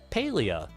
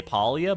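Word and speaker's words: Palia: we're gonna be playing paleo I believe is how you pronounce it my brain keeps wanting to say polia but I believe is Paleo it is a farming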